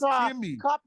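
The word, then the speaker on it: ⲕⲏⲙⲓ: Seth CA that because Coptic does not say Co he's does not say for Kim it says kimy that's our language should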